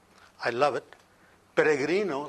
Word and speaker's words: Peregrino: say I love it peregrino the last name and that's the way it's supposed to be pronounced if you can roll your r's peregrino means Pilgrim a